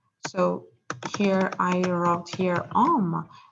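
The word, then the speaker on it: homme: here i wrote here oma and as you know that we don't pronounce h and the oh it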